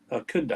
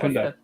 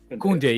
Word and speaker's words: Koundé: Koundé. Koundé. Kunde, yeah.